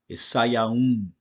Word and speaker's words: Sivan: next thing, the modern Hebrew, and the correct pronunciation to this is Sayaun.